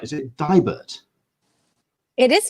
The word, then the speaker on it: Deibert: And I want to make sure I'm pronouncing her second name right. Is it Deibert? It is Deibert.